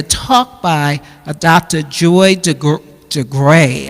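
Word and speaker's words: DeGruy: by Dr Joy de de gray I think is how her name is pronounced d e g r u y and we'll add this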